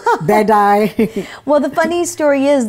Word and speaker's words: Bedi: welcome to the show I like the way you pronounce my name usually it's Bai or something like that so bedy well the funny story